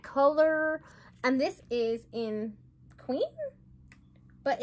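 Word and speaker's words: Qveen: And this is in Queen? But it's spelled different.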